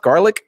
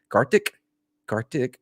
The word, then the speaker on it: Gartic Phone: We played Gartic Phone. Is that how it's pronounced? Garlic? Nope. Nope. That's a food. Gartic, whatever. It doesn't matter.